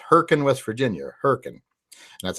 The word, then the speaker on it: Hurricane: of a town called Herc and West Virginia Huracan and that's how we pronounce it hurricane it's pronounced it's spelled hurricane